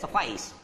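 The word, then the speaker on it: suffice: है बच्चों, ए से, एफ और AI को बोलते हैं आई, सफ आई, सफाइस, सफाइस। ओके, तो this is the correct pronunciation and this is the phonetic symbol of this word. ये जो शब्द मैंने लिखा है इसका फोनेटिक सिंबल ये है, और इसका जो करेक्ट प्रोनाउंसिएशन है वो ये है सफाइस।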